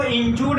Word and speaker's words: injured: टिंकू घायल, इंजर्ड, INJURED। इसको इंजूर्ड नहीं कोई बोलेगा, इंजोर्ड नहीं कोई बोलेगा, इसको बोला जाता है, इसका करेक्ट जो उच्चारण है प्रोनाउंसिएशन होता है इंजर्ड, इंजर्ड।